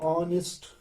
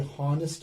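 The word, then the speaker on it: honest: एज ये ऑनेस्ट, ये हॉनेस्ट नहीं है. We have to pronounce it एज ऑनेस्ट. H becomes here silent, ये लिखने में आएगा, ये पढ़ा नहीं जाएगा.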